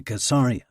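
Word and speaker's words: Caesarea: Every Israeli boy grows up pretending he belongs to Casaria, which they all know is pronounced with a hard sea.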